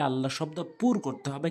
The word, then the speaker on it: আল্লাহ: আল্লাহ শব্দ পুর করতে হবে। কেন? আল্লাহ শব্দের ডান দিকে জবর আর পেশ থাকলে পুর হয়, মুখ গোল হয়। আর আল্লাহ শব্দ ডান দিকে জের থাকলে আল্লাহ শব্দটা লা উচ্চারণ হয়, তখন ল হয় না।